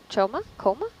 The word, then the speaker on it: Choma: The chef could use a shout out, Chef Choma? How do you spell that?